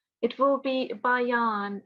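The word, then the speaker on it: البيان: on the ya, so it will be ba ya. So two separate letters. I'll recite this verse for you, and then you can recite after me. Allamahul bayan. Allamahul bayan. Yeah, so try not to combine bayan. Yeah, don't go over the ya. It's two different letters. Bayan.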